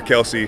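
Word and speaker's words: Kelce: name but um yeah you can call me either kelse or Kelsey I'll I'll respond to both not every NFL star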